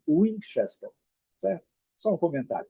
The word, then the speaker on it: Winchester: Muitos usam como Winchester. Porém, a pronúncia em inglês com W é U. Então, seria Winchester.